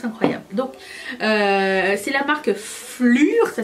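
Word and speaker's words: Phlur: Donc c'est la marque Flur, ça s'écrit P-H-L-U-R, et c'est vendu chez Sephora Canada.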